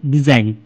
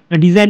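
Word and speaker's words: design: ঠিক আছে, এরকম এক্সাম্পল দেখো, ডিজাইন, ডি এ আই জি এন, ডিজাইন। ডিজাইন এখানে জিটা উঠে যাবে, জি এর কোনো উচ্চারণ হবে না, উচ্চারণটা হবে ডিজাইন।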